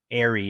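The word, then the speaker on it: AIARE: in steamboat which offer airy is the way we pronounce the acronym of avalanche courses since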